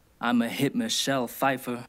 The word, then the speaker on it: Pfeiffer: i'm a hit michelle pfeiffer that's silent p right but as i